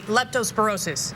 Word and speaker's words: Leptospirosis: And let me try to pronounce this correctly. Leptospirosis.